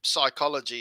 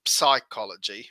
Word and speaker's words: psychology: of the soul but in english we don't pronounce it psychology we just say psychology and there's this redundant p that we don't pronounce well i've never heard anyone pronounce it but in greek